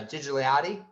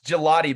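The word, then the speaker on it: Gigliotti: Jessica I know it mispronounced his last name uh gigiliotti it's gelati but yeah he wrestled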